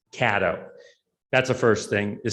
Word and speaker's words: Cato: what he did right it's actually not pronounced cato it's pronounced caddo that's the first thing